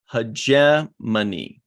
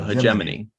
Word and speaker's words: hegemony: Looking up on Google, it is pronounced hegemony. Yeah, so hegemony.